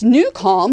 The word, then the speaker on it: Nucalm: But yes, Newcal, which is spelled Nucalm, is an app that can help you sleep better, focus better.